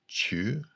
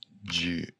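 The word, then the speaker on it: 中: ago so that should that's normally pronounced chu and in this case it's ju meaning here is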